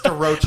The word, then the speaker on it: DaRocha: Like is that how you say your name? It's DaRocha. who are you? By the way. DaRocha.